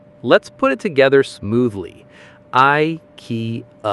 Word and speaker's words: IKEA: Wrap it up with a soft uh which sounds like the a at the end of sofa. Let's put it together smoothly. I key.